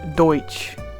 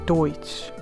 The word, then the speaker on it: Deutsch: And Dutch is just people I think misheard Deutsch or Deutsch. I can't say it right.